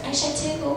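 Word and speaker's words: Aishatu: Oh, there's Aisha too. Oh. Maybe there's an Aisha 1 hiding under the table. But the issue is that the correct pronunciation of my full first name is actually Aishat.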